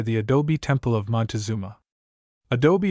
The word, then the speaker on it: adobe: adult Temple of monuma adobe is pronounced in three syllables Adobe and is the Mexican